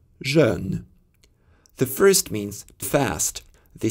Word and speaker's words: jeune: French has vowels e and e that do not exist in English. These words sound as jeune, jeune.